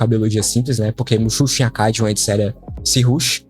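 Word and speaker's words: mušḫuššu: Muxuxo é mais ou menos isso, a pronúncia que eu encontrei.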